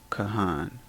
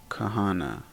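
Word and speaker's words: כהן: h n Kahan priest the incorrect way to pronounce this would have been KH hn Kahana now I wanted to show this because typically there's not you're not going to pronounce an a at the end of a word unless it ends with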